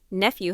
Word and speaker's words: nephew: Nephew has a soft F sound.